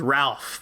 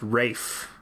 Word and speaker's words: Ralph: this rape fine his name is ralph but it's pronounced rafe right rafe al ghul